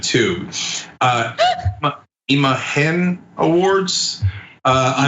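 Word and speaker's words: imagen: BR said too uh imahen Awards uh imahen it's it's just it's super easy like you're overthinking imahen that's it imah I'm so bad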